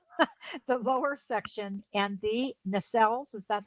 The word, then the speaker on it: nacelles: So they added the lower section and the nacelles. Is that how that's pronounced, Yep, Laurel? nacelles.